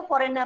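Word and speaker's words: foreign: P silent and last फॉरेन में जी silent.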